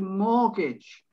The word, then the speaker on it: mortgage: package thailand tea mortgage we want to skip the tea and go straight into mortgage which as you know